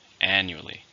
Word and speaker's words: annually: adverb how many syllables are in annually for stress on the first annually your performance will be